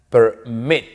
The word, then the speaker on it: permit: Porque la mayor fuerza de voz está al final. Permit. Yo no digo permit, ¿no?